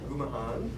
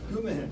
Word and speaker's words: Gumahan: state champion wrestler, Gumahan. I hope I'm saying that close. Check, but Kevin, correct me. Not even close. Kevin, correct me. Give me the correct pronunciation. Gumahan. Gumahan.